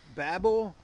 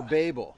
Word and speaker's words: Babel: controversy is is it babble or babel yeah is it babble or babel so i actually uh i actually looked at that up and according to webster's you can pronounce it either way so we're good in